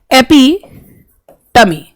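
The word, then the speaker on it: epitome: This word का, ये word का प्रोनाउंसिएशन जो है वो है एपिटमी।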